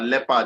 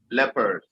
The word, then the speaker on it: leopard: This thing is pronounced as leopard. It's not leopard, leopard.